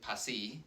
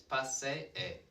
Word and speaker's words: paseé: So this isn't pasí, like if it were English, we'd kind of just make an E, an elongated E sound. It's paseé, paseé. And again, this is the accentuated one, so it's not paseé, it's paseé. The tilde, the accent tells me this is the emphasized syllable.